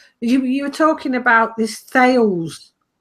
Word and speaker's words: Thales: were talking about this Thales. They like to call themselves TL or something stupid, but it's spelt Thales anyway.